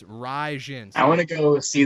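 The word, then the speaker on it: Rizin: You don't know how to pronounce shit, all right? It's Raijin.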